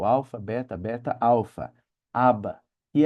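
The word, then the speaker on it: ἀββα: A palavra aba é equivale ao nosso abba, é o alfa, beta, beta, alfa, aba, que é pai em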